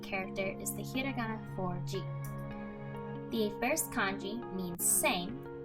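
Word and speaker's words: 時: The first kanji is pronounced do, the second ji, and the last character is the hiragana for ni.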